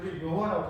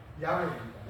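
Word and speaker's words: 야훼: 따서 스스로 있는 자를 우리는 야 자 여호와라고 발음하고 있는데 사실 정확한 발음은 야외입니다 야외인데 그래서 것을 이제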